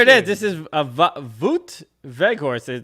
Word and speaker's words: Wout Weghorst: This is a Wout Weghorst. That's how I would pronounce it, but here's how it is in Dutch. Wout Weghorst. Wout Wout Weghorst. Wout Weghorst. Weghorst. There's a phlegmy in the GH.